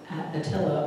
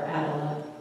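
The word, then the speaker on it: Attila: Leo excuse me uh Atilla or Adela depending upon your pronunciation and uh with that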